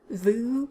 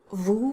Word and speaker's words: vous: not quite the same i hear a lot of voo instead of vous from anglophones and that's usually because their tongue placement is incorrect so in order to